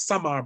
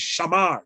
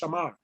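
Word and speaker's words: שָׁמַר: The Hebrew word is a shamar. You see it as samar, but it's shamar. It's pronounced shamar.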